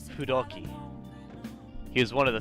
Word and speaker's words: Fudoki: Kamu Susanoo, a Japanese god found in the Izumo Fudoki. Actually, sorry, I'm pronouncing the f wrong. A Japanese god found in the Izumo Fudoki.